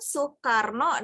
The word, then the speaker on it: Soekarno: Bahkan Soeharto, Soekarno itu kan masih dengan owe, tapi dibacanya kan Soekarno dan Soeharto.